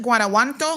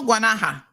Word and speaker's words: Guanaja: Because, she's from how you pronounce it? Guanajuato? Guanaja. Yes.